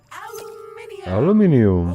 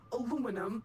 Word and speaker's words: aluminium: Aluminium. Or aluminum, as Americans pronounce it incorrectly.